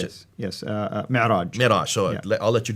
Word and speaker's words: Mi'raj: How do you pronounce it? Yes, Mi'raj.